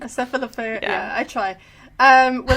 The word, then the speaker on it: Cephalofair: the new game by Cephalora Games. Is that how you say it? Cephalofair, I think. Cephalofair.